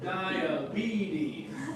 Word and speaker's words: diabetes: So it's a diabetes. All right. Diabetes. All right. So that's how I would pronounce it.